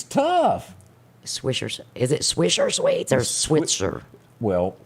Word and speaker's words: Swisher: Is it Swisher Sweets or Switzer?